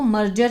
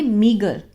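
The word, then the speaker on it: meagre: इसकी जो प्रोनाउंसिएशन है इसको मर्जर नहीं बोलेंगे, मीगर, टू टेक अप, ठीक है ना।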